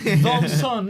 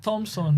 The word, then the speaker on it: Thomson: way because keny Kenyan always pronounce keny pronounce every single letter what is it called Thomson not Thompson no no Thomson I'll